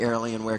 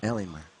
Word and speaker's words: Alienware: as well as the airling Ware computers taking these guys all the way to the Finish L Alienware Alienware okay there we go pronunciation helps indeed there's an r in there randomly it was kind of